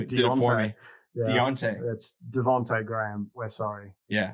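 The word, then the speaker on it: Devonte': maybe one yeah some people were saying uh deontay i always get this guy's name wrong devonte devante graham yes thank you devante graham i kept my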